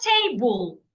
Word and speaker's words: table: So because it has two syllables and because it is a noun I need to stress the first syllable which is why the first syllable is written in capital letter t the other syllable should not be said louder should not be said longer and should not be said clearer bull.